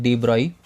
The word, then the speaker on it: de Broglie: Okay, it is written like de Broglie, but it is pronounced like de Broglie.